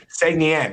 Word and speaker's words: Saguenéens: It's Saguenéens.